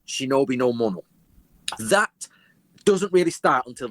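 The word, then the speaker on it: 忍びの者: The word ninja is actually 2 ideograms in Japanese, which are pronounced correctly, shinobi no mono.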